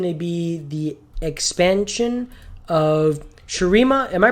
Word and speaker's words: Shurima: that is going to be the expansion of shirima am i pronouncing that right i just want to make sure yes sir sharima of of of sharima and what comes with